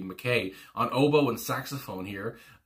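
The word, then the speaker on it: Mackay: And it goes on, Andy, I want to say McKay, I think that's how you say it, not Mackie, McKay, on oboe and saxophone here.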